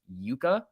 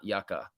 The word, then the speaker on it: yucca: just a heads up yucca is pronounced yuka not yucca yucca am i saying